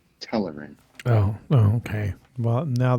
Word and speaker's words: Telerin: B terarian. Cindarian. And B. And let me amend. Let me amend. B is pronounced Telerin. Telerin.